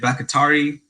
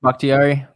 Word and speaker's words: Bakhtiari: For my team, the Los Angeles Chargers, give me that left tackle over in Green Bay, David Bakatari. I don't even know how to pronounce his last name. Bakhtiari.